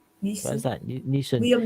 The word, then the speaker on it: Neeson: If Liam Nelson, what is that? Neeson. Liam Neeson. That's I couldn't pronounce that there.